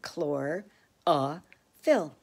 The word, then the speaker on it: chlorophyll: leaves is called chlorophyll notice how that is we get to see how to pronounce it chlor ah fill chlorophyll helps the leaves